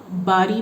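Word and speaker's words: बारी: So you have to pronounce properly ba and bha. Bhari means heavy. Bari means turn.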